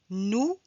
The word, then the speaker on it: nous: Nous, vous nous, on ne prononce pas le S.